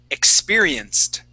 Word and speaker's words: experienced: Our first one is going to be experienced. Yeah. With experience. A T sound.